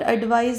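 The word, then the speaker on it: advise: मतलब एडवाइस में लास्ट में स का साउंड आ रहा है और एडवाइस में ज का साउंड आ रहा है।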